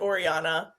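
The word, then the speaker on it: Orianna: a Fitz and Oriana which I pronounce it Oriana and it's o r i a n n a do people say Oriana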